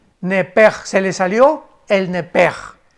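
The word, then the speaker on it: nepesh: pedro e s h la s h en el hebreo se pronuncia como j entonces se pronunciaría lepe lepe se le salió el nepe y en el versículo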